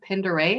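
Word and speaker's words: Pend Oreille: I think we're going to go camping quite a bit this summer, including 5 days up on, I think, Lake Pinderay is how you say it, in Sandpoint, Idaho area.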